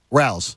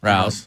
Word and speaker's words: Rao's: But, oh, by the way, it has a pronunciation right here on it. I didn't even realize that. Rao's. Rao's.